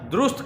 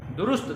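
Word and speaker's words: درست: और दुरुस्त कहना है, दुरुस्त नहीं कहना, दुरुस्त दाल के ऊपर पेश है।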